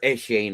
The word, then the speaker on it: Etienne: they got Etienne there, or Etienne as he likes to be called, right? When you pronounce it in the Cajun way.